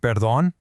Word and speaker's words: perdón: See that accent on the O and perdón? That means you emphasize that last syllable. Perdón. All right, Section 3, making simple introductions.